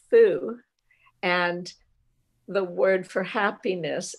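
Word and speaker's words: 蝠: symbol for happiness, because in Chinese, the word bat is pronounced fu, and the word for happiness is also fu.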